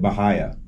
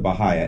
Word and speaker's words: Bahia: I have a question you pronounced it bahaya sure I'm a St Petersburg native I was born and raised and we always called it bahaya as well but I always get made fun of for not pronouncing it correctly so thank you for proving me right thank you very much